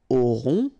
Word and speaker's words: aurons: Okay, nous aurons. Final S not pronounced. O and N together, nasal.